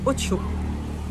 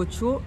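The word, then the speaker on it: OXXO: chez nous, c'est le Ocho. Oui. Écrivez O-X-X-O. Et ici, prononcent les X en che comme dans le Pays Basque.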